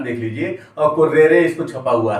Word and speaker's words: currere: शब्द पाठ्यक्रम लैटिन भाषा के शब्द CURRERE, बहुत ही साफ सही ढंग से इसका उच्चारण देख लीजिए और कुर्रेरे इसको छपा हुआ है आपकी किताबों में।